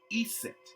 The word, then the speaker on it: Eset: her name isis and the egyptian form which are which says which it will represent as i set pronounce eset e space s e